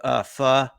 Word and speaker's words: pho: I had a pretty good beef pho. Okay. Correct pronunciation, right, Bruntz?